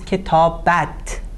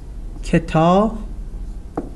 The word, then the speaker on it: کتابت: Here, as you see, we pronounce this kitabat, at. The ending is at. But in spoken Persian is it. So in spoken Persian it's pronounced kitabet.